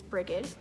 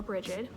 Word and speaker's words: Brigid: is celebrated during Imbolc is Brigid, or Brigid, and that's the second time I'm doing this. I've heard it pronounced both ways, and actually, funny enough, I've always pronounced it Brigid, and we actually named